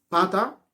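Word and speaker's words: פתה: » Ici, le terme « séduit », c'est le mot hébreu « pata ». Pata qui s'écrit P-A-T-H-A-H.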